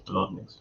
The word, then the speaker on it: Bolotniks: But I'm sure it's Bolotniks for the surname.